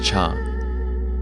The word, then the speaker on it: 茶: Later on, as Chinese continued to split into multiple different languages, the pronunciation of the word for tea in many of those languages became something similar to cha.